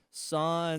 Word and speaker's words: San: Her name's San, if I'm pronouncing that right. San, Yes, you are.